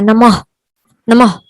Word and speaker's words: नमः: यहाँ पे full letter ह का उच्चारण नहीं आएगा, बल्कि क्या आएगा, अधूरा लेटर ह का उच्चारण आएगा, नमः नमः।